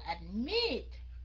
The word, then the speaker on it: admit: Mình đọc là admit, double. Nhấn âm có nghĩa là mình để dấu sắc vô chỗ đó. Admit. Mình đâu có đọc là admit. Đấy, khi nào các anh chị đọc admit, admit thì các anh chị khỏi double.